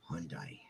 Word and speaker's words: Hyundai: Hyundai. You pronounce it the way it looks.